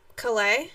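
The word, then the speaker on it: Calais: running back Raymond coleus Calleigh yes he pronounces his name different than Chloe Campbell okay let's go to nope he is from Louisiana so he uses the French you know what okay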